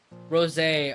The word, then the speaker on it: rosé: It's not rose. It's I forget how it's pronounced. I don't remember. It's been like forever since I tried it. Rosé. Oh, that's what it is. It's rosé.